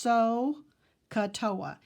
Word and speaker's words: SOHCAHTOA: of pronouncing that because it really should be pronounced so katoa silly joke about Indian cheese sohcahtoa and the